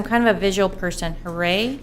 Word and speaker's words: Huray: Huray? H-U-R-Y. Huray. Oh, okay, Huray. Huray. H-U-R-Y, okay.